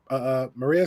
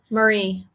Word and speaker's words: Marie: point blank period, like Maria said here. I apologize if I just said your name wrong. I said it right? Marie. Marie, thank you. Most people call me Maria though, so it's fine.